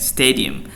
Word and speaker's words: stadium: Okay, spectacular stadium, not stadium biasa aja, bukan flat aja, tapi stadium, ditekan stay-nya ya, stadium.